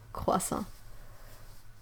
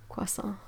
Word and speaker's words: croissant: It's really difficult because there are quite a good solid distinction in between French pronunciation and English pronunciation. So it's really difficult sometimes to find a similar sound in English to say, like the croix part of croissant.